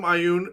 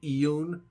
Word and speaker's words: Ioun: It's Ioun stones. These require attunement. I call them Ioun. These are a made-up word. You can pronounce it. I know a lot of people say Ioun. It doesn't matter.